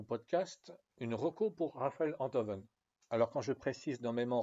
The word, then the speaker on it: Enthoven: c'était avec Frédéric Tadei, où il précisait que son nom se prononce Enthoven, et qu'il est professeur de philosophie.